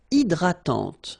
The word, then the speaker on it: hydratante: Une crème hydratante. So remember, H is not existing, and then this Y is pronounced like I. Hydratante. Okay, don't insist on the final E, and this is nasal. Hydratante.